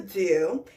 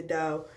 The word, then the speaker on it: Doux: See, I've heard some videos say the dough, but they tell you it's pronounced Doux.